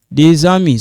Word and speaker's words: des amis: Des amis. So this one sounds like za. Des amis. This one silent. We don't pronounce this. We don't pronounce this, but you write it.